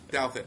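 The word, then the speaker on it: Douthat: you wrote with Roscoe Todd and did I pronounce that right by the way I always say Delta Delta yeah that's it okay Delta okay and I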